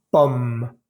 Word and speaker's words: pomme: Voy a leer estas palabras lentamente y vas a fijarte que nunca pronuncio la E al final de estas palabras. Table, voiture, pomme, livre, porte, chaise, école, femme, plage, lampe, étoile, planète, lune, rivière, montagne, neige, vague, feuille. En ninguna de estas palabras pronuncié la última E.